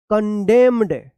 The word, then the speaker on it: condemned: CONDEMNED क्या पढ़ेंगे कंडेम्ड, कंडेम्ड, यहां पे भी एन क्या है साइलेंट रहेगा।